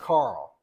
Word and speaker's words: Carol: but they pronounce it Carl and Bush corrected me on that even though it's spelled Carol it's pronounced Carl so Carl James Goodson